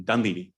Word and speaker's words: Dunleavy: I always mispronounce his name. Dunleavy.